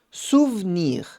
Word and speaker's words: souvenir: Só essa pronúncia um pouquinho diferente, onde o e no meio não é pronunciado, souvenir.